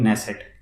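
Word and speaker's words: Knesset: बोलते हैं, उसको बोलते हैं नेसेट, के साइलेंट है, तो ये आपको याद रखना है।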